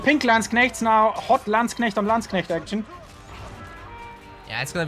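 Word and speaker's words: Landsknecht: gets to learn that you pronounce some landsconnect and not whatever that the hell the English speaking streamers do so land snakes I know oh my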